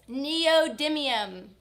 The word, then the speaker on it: neodymium: Neodymium.